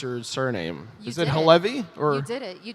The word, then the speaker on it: Halevi: is what's the what's the correct way to pronounce your surname is it hevy or you did it you did it it